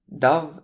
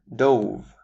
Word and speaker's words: dove: Up next, we have dove and dove. A dove is a breed of birds, but dove is the past tense of the verb to dive.